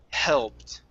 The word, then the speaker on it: helped: like a breath helped okay so your tongue instead of the is pronouncing it like a spanish j and having it be like this okay you're gonna let your tongue relax and let it lay on the bottom of your mouth just like you're breathing out helped good just like that it's nice and soft helped okay okay um next